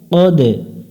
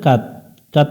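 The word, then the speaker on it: قد: বালা কফ দাল জবর কদে এখানে অনেকজন ভুল করে কাত কাত পড়া যাবে না কদে দাল অক্ষরের উপর সুকুন আছে কলকলা করতে হবে অর্থাৎ প্রতিধ্বনি সৃষ্টি করতে হবে কদ জিম আলিফ জবর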